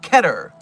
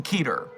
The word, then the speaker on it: Keter: It's K not key. You are correct, Ace. It is pronounced Keter.